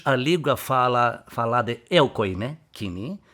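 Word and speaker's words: κοινή: Aqui mais pronunciamos koiné. Koiné. Né? Koiné. É a língua grega, dialeto é koiné. E a pronúncia em grego é kini.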